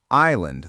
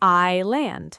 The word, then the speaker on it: island: Say the word island the way you think it's spelled, sound by sound. Is land. Very close, but that S is completely silent. Try it the natural way. I land.